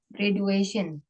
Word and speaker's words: graduation: apa kelulusan apa ya graduation Iya Graduation Day gitu bacanya bukan pakai D ya pakai j graduation Graduation Day Iya jadi